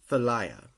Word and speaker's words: Philia: So, I think it's really weird that they had this, but I'm gonna pronounce it this way. It's called Philia.